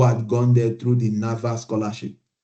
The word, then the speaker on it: NAWA: gone there through the NAVA scholarship, what we call NAWA, NAVA, Now, NAWA, yeah, but it's how, NAVA, how do you spell it? NAWA, NAWA WA.